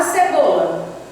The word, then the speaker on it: cebola: Chame a palavra cebola. É só chamar a palavra como se estivesse chamando alguém. Ó, cebola. Você demora mais no bo. Então, o bo aqui é a sílaba tônica.